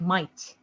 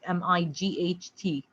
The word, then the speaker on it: might: even there right like might might m-i-g-h-t so g is silent right might and that's